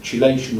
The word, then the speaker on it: chelation: What some companies do, they will chelate them, or chelate is the other pronunciation. Right. Chelation or chelation.